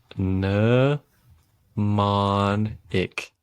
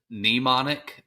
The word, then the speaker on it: mnemonic: free feel free okay no monik yeah uh old Jeff Foxworthy did pronounce it mnemonic but uh when you put it in Google it says mnemonic so I'll roll with that I'm trying to decide